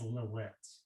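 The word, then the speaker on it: לילית: In this case, this altar to the west is dedicated to Lilith as Lilit. Lilit is how in Hebrew her name is spelled. It's Lamed Yod Tav, and can be pronounced Lilit.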